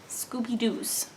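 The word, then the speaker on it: scoubidous: places as well but it is spelled s-c-o-u-b-i-d-o-u-s scooby-doo's so sounds like the dog scooby-doo um but it is not scooby-doo it is scooby-doo not the dog does that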